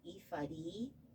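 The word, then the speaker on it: ephod: like this and that's something it is actually pronounced ifadi you found it it's a linen apron worn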